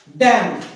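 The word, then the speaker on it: damn: डैम, बोलते डैम, धिक्कार, पर स्पेलिंग क्या होती है, DAM।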